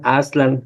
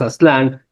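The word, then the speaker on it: Aztlan: lugar conocido como aslan lo voy a decir todos sin agudos porque parece que así se pronunciaban aslan a ve decimos aslán que también tiene que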